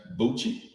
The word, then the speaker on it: Bucci: That's Bucci. Like okay. Gucci, but that's Gucci. He's saying Gucci. Okay, Bucci, like Gucci.